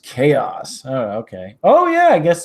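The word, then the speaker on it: Xaos: don't know man what's up Brian you're Brian Zaius am i pronouncing that right x AO s cool name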